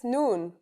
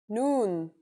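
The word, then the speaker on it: ن: That's noon. The noon is pronounced just like the English N.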